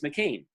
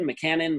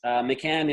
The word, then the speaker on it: McCann: they say, oh, McCann. And it's not McCain. I've been called McCain, McCannon, McCant. Can I call you? And they're all wrong. No. I actually, to help with that, because McCann in Ireland is kind of like Smith.